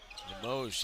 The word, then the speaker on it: Limoges: Limoges, yes, good pronunciation.